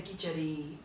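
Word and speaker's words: kitchari: onde você vê mas eu escrevo assim k i c h a r aí pode ter dois s se for inglês ou dois is ou e ou I com traço em cima mas a pronúncia kiter tá que tem basicamente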